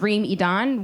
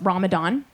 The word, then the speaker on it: Reem Idan: On top of that, my full name is Reem Idan, which Americans pronounce as Ramadan.